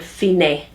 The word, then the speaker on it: fine: the A part, has the word fine, which is the Italian pronunciation, meaning finish, the end.